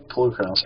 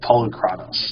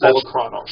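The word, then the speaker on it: Polukranos: Uh, there's Polarronos. Actually, I learned how that car is actually pronounced. Okay. It's Polar Chronos. Okay, that's that sounds more Greek. It is. Yeah, that's Polocronos.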